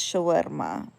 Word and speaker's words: shawarma: Uh, but it's Shawerma. That's how you pronounce it properly.